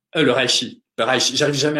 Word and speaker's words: reishi: Une autre plante que j'aime bien, c'est le reishi. Le reishi. J'arrive jamais à la prononcer celle-là, donc vous m'excuserez, c'est le champignon chinois qui ressemble au reiki, mais qui se dit reishi ou qui porte un autre nom.